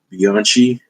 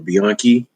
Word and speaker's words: Bianchi: with art by Simone Bianchi, or Bianchi. That's how I think it's pronounced, Bianchi. But I heard somebody pronounce the CHI in his last name. So it's either Simone Bianchi or Bianchi.